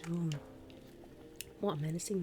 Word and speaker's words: Siobhan: Well, we've got this one, Sioban. Siobhan, it's pronounced Siobhan.